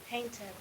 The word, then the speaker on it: painted: My children painted their Very good. Painted, right? Because the last sound is T in this case. So ED sería it.